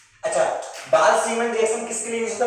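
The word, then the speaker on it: Balz-Schiemann: अच्छा बाल-सीमन रिएक्शन किसके लिए यूज होता है, सुनो अभी BALZSCHIEMANNS, हाँ Z का ये साइलेंट है।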